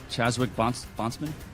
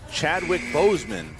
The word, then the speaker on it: Chadwick Boseman: Spell it. Chazwick Bondsman. What is it? What are you say? What are you saying? Chazwick Bossman. That's incorrect. Nothing. Chadwick Boseman is the answer.